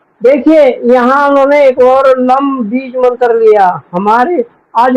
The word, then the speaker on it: लम: और इसका उच्चारण ऐसे होगा, ओम त्वमेव साक्षात श्री लम नमो नमः। श्री लम नमो नमः। श्री लम नमो नमः। यहाँ लम, यह हमिंग साउंड, जैसे नाकों से या मुझसे आता है, लम लम वम, ऐसे।